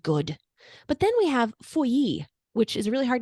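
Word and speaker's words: Feuilly: But then we have Fouilly, which is a really hard name to say, but when you see a double L in French, you pronounce it like a Y.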